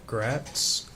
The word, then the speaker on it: Gratz: name for them please my name is grats it's spelled g r a TZ okay where are